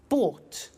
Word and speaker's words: bought: in the story so listen carefully to the pronunciation by bought you notice that o ug HT is pronounced